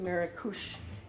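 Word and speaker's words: Marrakesh: new city of marush we know it as mares it's pronounced marush in Morocco um so in Andalusia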